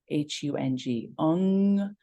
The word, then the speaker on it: Hung: will though you might hear it as three syllables h-u-n-g so hung what's powerful about a lot of